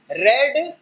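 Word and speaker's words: read: रीड means पढ़ना, रीड, रेड, रेड। यहां पर ध्यान देना, रीड के केस में सेकंड थर्ड फॉर्म में रेड बोलते हैं, स्पेलिंग सेम रहेगी, रीड, रेड, रेड।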